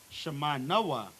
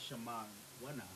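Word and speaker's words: שמונה: 8, Shema Wana. I think. Shema Noah. Not Shema Wana. Shema Noah. Ma Noah. Really the longest number in Hebrew. 8, Shema Noah.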